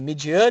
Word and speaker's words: Midian: não não sabia né a pronúncia é Midian então é a Midian Lima hoje ela tá